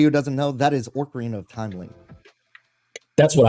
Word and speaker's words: Ocarina: It's the Ocarina, right? That's how you pronounce it.